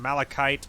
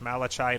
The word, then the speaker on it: malachite: need refine Melek Matan malachite malachite I don't know how to pronounce it I'm assuming you don't pronounce the CH like a Chuck I'm assuming it's cuff like malachite I'm assuming and so